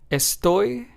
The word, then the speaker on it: estoy: Let's take the words español, estoy, feliz, and trabajador. In these words, we stress español, estoy, feliz, and trabajador.